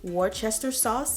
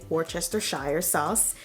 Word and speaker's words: Worcestershire sauce: have in your pantry it's going to be worcester sauce or as i just like to go ahead and say worcestershire sauce because that's how it's spelled english and liquid